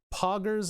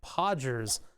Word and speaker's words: Poggers: diapers looking pron people pronounce pogers as podgers podgers sounds like a